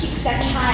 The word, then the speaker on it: Csikszentmihalyi: It's pronounced Csikszentmihalyi.